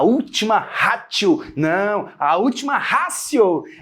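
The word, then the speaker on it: ratio: Ráo não a última rácio é não se escreve com T mas se fala com c é a última rácio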